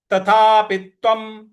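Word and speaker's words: तथापि त्वम्: प्रकार से बोलना है तथापित्वम तथापित्वम व के ऊपर जो अनुस्वार है उसका उच्चारण हमें म ले आना है तो तथापित्वम महाबाहु तथापित्वम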